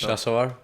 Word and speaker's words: Shasawar: Could you could you tell me how to how to pronounce the second name once? Shasawar.